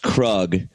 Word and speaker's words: Krug: It's actually pronounced Krug. Yeah, you're pronouncing it wrong.